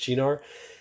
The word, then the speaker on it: Cynar: say it was this it was ginar it's pronounced chinar if your parents had